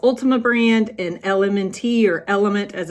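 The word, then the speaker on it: LMNT: below I love Ultima brand and element or element as it's pronounced both are great sources of nutrients minerals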